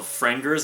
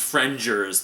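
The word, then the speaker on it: Frengers: thought it was called frienders i think probably there's half the popular the fanbase probably still calls it frienders but it's actually pronounced fringers like with a j but it's f-r-e-n-g-e-r-s um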